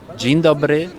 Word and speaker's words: dzień dobry: Dzień dobry.